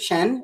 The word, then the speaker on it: Shein: Shen, is that how you say it? Yeah.